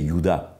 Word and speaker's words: Juda: sud la tribu de yoda on me devrait prononcer yuda plus que judas de yoda qui n'est